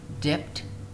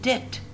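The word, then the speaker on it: debt: And here, dipped. No, dipped is wrong. Why? We've got another rule for B. If there was a T after B, so we do not pronounce the B. We pronounce it dit.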